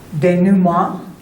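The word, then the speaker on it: dénouement: And then this is the resolution or the denum. That's how you say it in French.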